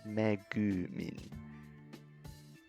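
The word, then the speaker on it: めぐみん: It's lengthen the end of the symbol, the end of that two letters, to make it sound right. So it's megumin.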